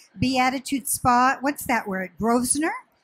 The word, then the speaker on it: Grosvenor: Grosvenor? Grosvenor.